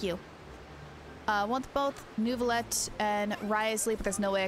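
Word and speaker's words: Wriothesley: I want Nuvalette and Riosly. Or Risley. I keep saying his name wrong. It's Risley. I keep pronouncing the W. There is no W.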